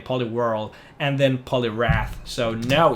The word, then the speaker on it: Poliwhirl: How do you pronounce Poliwhirl? Such a weird name. Poliwhirl.